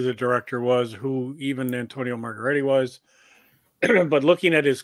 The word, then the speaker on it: Margheriti: First of all, it's Antonio Margheriti. Thank Margheriti.